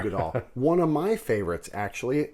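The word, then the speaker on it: Uigeadail: Ugadal. There's no close. R in it. We always say Ergadal, Yeah, but there's it's no R. Ugadal.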